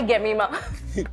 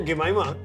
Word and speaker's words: Jemimah: He's like, hi, Gemimah. How did he get to Gemimah? No, I think he cannot pronounce J. So he made it Gemimah. So all my cousins were making fun. So, Jemimah.